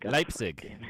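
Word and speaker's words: Leipzig: Li Light Li I can't pronounce it. Leipig. Leipig. Lizig.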